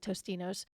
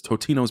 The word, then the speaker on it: Totino's: I think it's Totino's, but everybody calls it Tostinos. What fucking idiot is saying Tostinos? There's no S in there. It's Totino's Pizza Rolls.